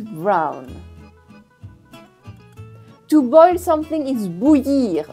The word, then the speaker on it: bouillir: To boil something is bouillir. Bouillir with the y sound in it.